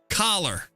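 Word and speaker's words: choler: Clower. I've never heard of the word clower either. Clower. Is that how you say that?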